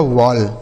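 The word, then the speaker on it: wall: क्या बताया हमने ऑल यह लिखा गया आपका वॉल ठीक है आगे एम A double L एम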